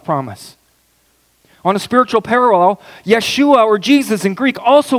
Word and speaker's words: Yeshua: is that Joshua okay you know the Hebrew pronunciation for the word for the name Joshua Yeshua Yeshua Joshua Yeshua the Hebrew name for Joshua is